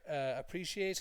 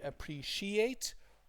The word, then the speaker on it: appreciate: This word here, appreciate, has two meanings. The stress is on pre, okay, but the part that changes is here. It could be appreciate or appreciate.